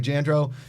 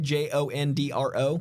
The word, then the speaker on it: Jandreau: How do you say when you introduce yourself? Jandreau. Jandreau. I say the simplest way. It sounds like Jondro.